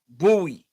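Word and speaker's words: Bui: B-U-I. Bowie. Yeah, that's how they pronounced it.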